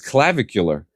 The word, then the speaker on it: Clavicular: just and I just it's not cardiovascular, it's Clavicular.